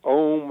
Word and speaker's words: Aum: all you are correct ohm as it is pronounced and spelled AUM that's correct there are a